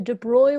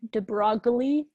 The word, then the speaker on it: de Broglie: Section 29.5, the de Broglie wavelength and the wave nature of matter.